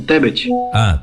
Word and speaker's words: Tebet: Esse sobrenome aí é Tebet, Tebé, ou como é que pronuncia esse? É isso aí mesmo, Tebet.